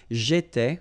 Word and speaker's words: j'étais: J'étais, okay? Remember, here we've got accent aigu, so it goes like et, all right?